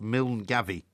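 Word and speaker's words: Milngavie: uh place in Scotland m i l n g a v i e phonetically pronounced mil Gaby well I don't know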